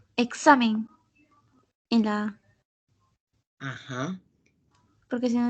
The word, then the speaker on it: examen: entonces como pueden observar la mayor fuerza de voz recae en la penúltima sílaba y al terminar en